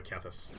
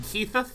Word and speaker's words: Kethis: By the way, this card is, I believe, pronounced Kethis, but I love saying Keitheth.